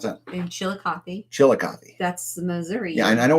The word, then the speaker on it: Chillicothe: How do you pronounce that? In Chillicothe. Chillicothe.